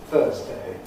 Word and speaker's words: Thursday: I said Thursday with D at the end, it can alternatively be pronounced Thursday with a good anything there.